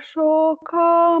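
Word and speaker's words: शोक: Ahara rajasa syeshta dukha shoka maya pradaha. Dukha, that dukha, you can pronounce better. Dukha. That is how you have to pronounce. And Shoka again is Dirga.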